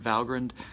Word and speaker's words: Valgrind: if you're bothered by the fact that I'm pronouncing it valgrind that is actually the right way to pronounce